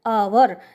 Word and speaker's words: hour: Start हो रहा है लेकिन इसमें जो हमारी साउंड आ रही है आवर, एच साइलेंट है इसमें।